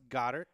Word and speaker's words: Goedert: With the 32nd pick in the 2018 NFL Draft, the Philadelphia Eagles select Darius Geis, Connor Williams, Justin Reed, Dallas Goedert.